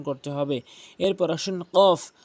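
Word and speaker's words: قاف: কফটি জিহ্বার গোড়া থেকে উচ্চারণ করতে হবে, কফ, উল, উল এভাবে উচ্চারণ করবেন।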